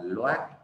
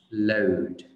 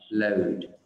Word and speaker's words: load: Thật ra cái âm này, cái từ cái đuôi loát này mình không có đọc là loát, mình đọc là load, bao gồm nguyên âm